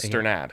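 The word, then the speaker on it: Strnad: it right this is i think wake forest had a astronaut on its pronunciation guide and the broncos have it as stern ad yes so i'm going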